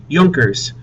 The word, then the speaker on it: Junkers: Notice how it's spelled. J U N K E R S. Joners, who were members of Prussia's wealthy landowning class.